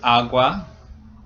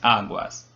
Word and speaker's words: agua: We don't say el agua, it's el agua. So the first syllable is accented, it's stressed, and so that's why it gets the L and un.